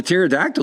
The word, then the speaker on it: pterodactyl: A lot of people do try to pronounce the P.